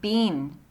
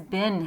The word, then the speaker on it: been: been stolen please remember B EE n is pronounced bean and everyone around you who says bin has bad pronunciation the coronavirus has been